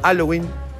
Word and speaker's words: Halloween: Festejo Halloween. Halloween. Halloween, Alice. Halloween. Halloween, Solís. Halloween. ¿Por qué Halloween? Porque es en inglés y en inglés la H se pronuncia casi como un suspiro.